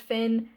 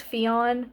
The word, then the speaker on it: Fion: I always thought the name was pronounced Finn, but apparently it's Fion in this. F I O N. I know it's Irish and so obviously would be pronounced differently than like an American name, but I still always